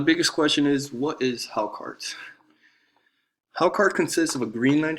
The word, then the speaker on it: Hákarl: The food I chose is pronounced Hákarl and it's actually pretty interesting like when I